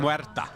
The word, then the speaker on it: Muerta: It's getting pretty close, about 500 away, as Saberlight will find a Muerta. Soxa will fall. I don't think that's how you pronounce that. Muerta.